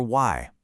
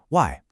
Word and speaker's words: 在: Now for Y. It's the fourth tone. It needs to be sharp, almost like you're chopping the air. Y. A really quick, decisive drop.